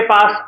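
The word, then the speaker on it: פסח: और ये जो फसे का पर्व है इसको अंग्रेजी में पास ओवर बोला जाता है। क्या बोलते हैं? पास ओवर। और इब्रानी भाषा में पास ओवर या फसे को पेसा बोला जाता है।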